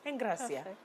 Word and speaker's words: Engracia: to pronounce it that way it's the right pronunciation Eng Gracia okay what does eng graia mean though graceful